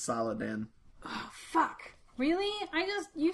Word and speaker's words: Saladin: It's Saladin. Which sounds an awful lot like Sultan if you take out some of the syllables.